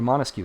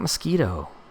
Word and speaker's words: Montesquieu: Okay, you ready? Montesquieu. Montesquieu. Oh, look at that. Even the autocorrect popped up and was like, that's how you spell it, because it thought I couldn't do it. I did it. Autocorrect. I don't need you. His name is not Mosquito.